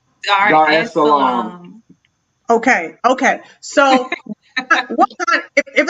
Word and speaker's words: Dar es Salaam: Dharmasol? Is that how you say it? I'm saying it wrong. Dar es Salaam.